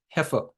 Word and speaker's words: heifer: is the meaning of a heer so it's pronounced heer it's not Hyer okay it's a heer what is a heer